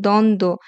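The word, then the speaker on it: দ্বন্দ্ব: না যেমন উদাহরণগুলো দেখো দ্বন্দ এখানে এই যে ন আর দ এটা একটা যুক্ত ব্যঞ্জন ছিল এর সাথে যখন আবার ব ফলে যুক্ত হবে তখন তার উচ্চারণ কিন্তু হয়নি তত্ত্বতেও সেম ত মিলে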